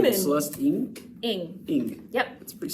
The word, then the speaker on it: Ng: Ing.